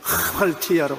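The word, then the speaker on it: ἁμαρτία: 이 히읗자 발음에 액센트를 많이 넣어서 하말티아라고 말합니다.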